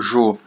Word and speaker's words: Geo: sempre assinadas apenas Gel, pronunciado Jo, como descobriríamos mais tarde.